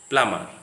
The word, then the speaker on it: plumber: The words are coming to the screen: bum, thumb, limb, tum, climb, climber, plumber. Don't say thumb. The B sound remains silent.